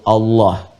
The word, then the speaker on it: Allah: A lagi, kemudian H, dibacanya tetap mengembalikan kepada diksi aslinya, tulisan aslinya dalam bahasa Arab, yaitu Allah.